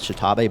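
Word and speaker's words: X'Tabay: Her name is spelled, it's X''Tabay, so I think the official pronunciation is Shitabe, but you can pretty much call her whatever you want.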